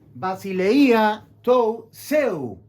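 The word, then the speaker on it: βασιλεία τοῦ θεοῦ: Basileia tou seu. Así fonéticamente se debe oír la pronunciación reino de Dios de Lucas 22:18, Marcos 14:25.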